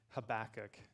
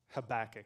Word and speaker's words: Habakkuk: I get mocked wherever I go for saying Habakkuk. Habakkuk. Is that okay? Are we agreed that that's a fine way to pronounce it?